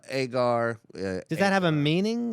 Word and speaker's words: Egar: Is it pronounced Egar? Agar.